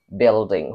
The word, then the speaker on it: building: bacanya itu building building building huruf u enggak usah dibaca Berikutnya ini ini